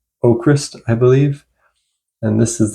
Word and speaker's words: AVKRVST: Next up, I've got Oakrist with Waving at the Sky. Now, this band spells their name A V K R V S T, but the V's are pronounced as U's, so it's pronounced Oakrist, I believe.